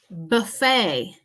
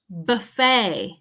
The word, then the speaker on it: buffet: a French origin so we don't pronounce the T at the end of this word buffet buffet the t